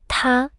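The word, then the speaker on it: 他: Same pronunciation. Ta. Both are pronounced exactly the same.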